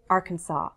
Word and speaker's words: Arkansas: Arkansas's I actually saw in the dictionary Arkansas as a possible variation I don't hear that much but apparently it exists I say Arkansas Little Rock Arkansas Baton